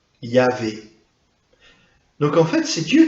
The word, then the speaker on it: Yahvé: hébreu, on va dire Yahvé. Le problème, c'est qu'on n'a que les consonantes. Donc le mot, on ne sait pas trop, on suppose que ça devait se prononcer à peu près comme ça. Yahvé.